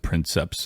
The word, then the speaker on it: princeps: and I always said princeps I didn't know how to pronounce it well it's in Latin a lot of times you pronounce your your C's are just hard um so oh that's